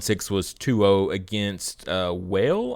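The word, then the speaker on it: Wael: was 2-0 against uh whale i believe is how you say their name w-a-e-l uh they it was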